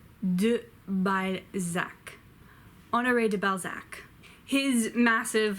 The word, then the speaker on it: Balzac: oh no FA do by Zach honoré de Balzac his massive like 50 book long series is